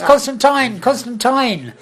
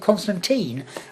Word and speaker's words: Constantine: Why didn't everybody understand that it's Constantine? And I I did didn't this know check. that either. I thought. Yeah, well, you know, I think he there's said, why does everybody pronounce it Constantine? And I said, because of the huge teen audience in America.